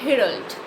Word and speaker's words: herald: herald so i'm a herold here h is not silent so i put r